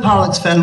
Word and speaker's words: Pollexfen: We've got to pronounce that word very carefully. Pollux, P-O-L-L, in case you think it's something else. But Elizabeth Pollexfen was the daughter of a Sligo merchant.